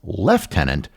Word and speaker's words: lieutenant: is why Commonwealth countries pronounce it as left tenant when there's nothing in the word that would indicate something that sounds like the letter F.